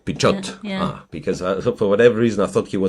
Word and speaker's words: Pichot: So then I have to pronounce the T. Pichot. Pichot.